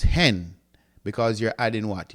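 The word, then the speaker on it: ἕν: for one is pronounced hen because you're adding what? You're adding the H.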